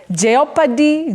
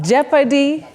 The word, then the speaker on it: jeopardy: Jeopardy Jeopardy not geopard many people innocently say geopy but that o the O in that word is silent noted like the word